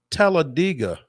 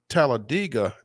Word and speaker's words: Talladega: noticed that you pronounced Talladega not Talladega and he said yeah that's locals say it that way it's like dig a hole it's television tell a digger Talladega that is that is